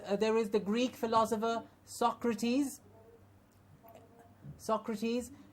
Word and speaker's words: Socrates: course there was there is the Greek philosopher Socrates Socrates it's a common noun so you can